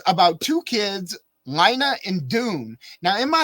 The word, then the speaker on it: Lina: they say Lina and Lina rhymes with something else something her little sister is trying to say so then it makes sense yeah yes it is pronounced Lina but in my head